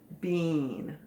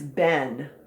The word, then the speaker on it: been: o and the w is silent oh another silent letter now a lot of you have been reading this word bean it has not been it is ben it's not a boy's name either it's been